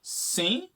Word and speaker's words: sim: it really expresses that even though it's spelt with like an M at the end, for some reason you sort of close your mouth before you really get to that point is like drifts off.